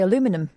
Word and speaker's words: aluminum: it in America yeah they also say aluminum well they don't put the eye in they don't put the um the second ey in that's why it's aluminum